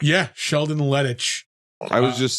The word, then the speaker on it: Lettich: Yeah, Sheldon Lettich. I was just saying. I was thinking it was just pronounced lettuce.